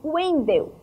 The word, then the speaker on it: Wendel: E já Wendel se escreve com W, mas o som é de U, Wendel.